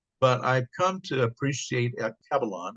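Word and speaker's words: Alkebulan: But I've come to appreciate Akibalon, I guess is the correct way to pronounce it. Akibalon, I've heard it pronounced that way.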